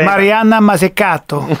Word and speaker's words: Mariana Mazzucato: Many of your readers probably already know about her because it's pronounced Mariana Mazzucato.